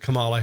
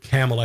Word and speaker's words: Kamala: mispronounce her name now i've always said kamala harris i might have said pamela harris for a while and everybody thinks it's camellia because we've seen pamela or tama whatever tamiflu so tucker carlson